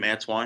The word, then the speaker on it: Antwain: So you can contact me through LinkedIn under my name, Antwain. It's spelled Antwain. I is silent, but obviously.